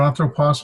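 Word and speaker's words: ἄνθρωπος: These two consonants that get separated because it's hard to pronounce a nu and a theta together, so you separate it. On, throw, pos.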